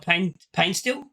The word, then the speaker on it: Paintsil: Another player we were actually linked with is Joseph Paintsil, and that's how you say it.